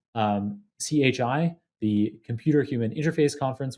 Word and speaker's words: CHI: You presented it at top conferences like CHI, the Computer Human Interface Conference, which I think you pronounce in a much cooler way. Chi, like the Greek letter.